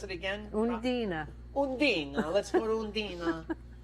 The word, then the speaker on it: Undine: Let's go to, pronounce it again. Undine.